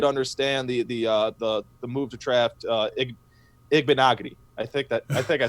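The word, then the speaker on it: Igbinoghene: I think that would have been a better move, but I did understand the move to draft Igbenogany. I think I said it right that time. Igbenogany, yep, that's it.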